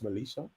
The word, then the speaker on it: Malisha: So although Don was displaying and I do think that Melicia or Militia, how do how are we pronouncing her name? That's Melicia.